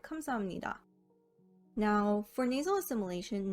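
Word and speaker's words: 감사합니다: amnida meaning thank you if you were to pronounce it as written it would be kamsa hapnida so i'll start this one off by explaining that miam and nian are considered nasal consonants in order to maintain flow in the pronunciation instead of pronouncing biop as a hard p sound the flow is maintained by changing it to a m sound so instead of kamza hapnida you get kamsamnira now for nasal assimilation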